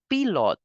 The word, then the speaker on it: pilote: Next, we say pilot in English, and in French we pronounce this word as pilote. We know that we pronounce I in French as E, T as te. So pilot in English and in French you will pronounce it as pilote.